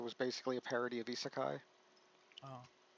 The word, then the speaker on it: isekai: Oh yeah, Ishikai, I think it's pronounced, but In isekai. uh, Isekai.